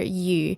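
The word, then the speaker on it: 余: families the written character you that is used in this greeting is the character meaning Surplus or more than and its pronunciation is the same as the character for fish you so again this is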